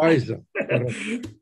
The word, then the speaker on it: Fajza: Fajza.